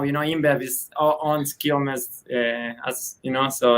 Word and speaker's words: Quilmes: It's Quilmes. Like Q-U-I-L. How do you say it? Quilmes.